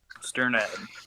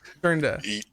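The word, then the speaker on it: Strnad: I never know how to pronounce the last name. Sternad. Sternad.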